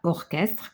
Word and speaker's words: orchestre: culon culon u ch parce que Ch il se prononce k parfois comme cor orchestre Coral et cetera 3